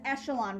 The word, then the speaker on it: echelon: That's pronounced echelon, reduced row echelon form, okay?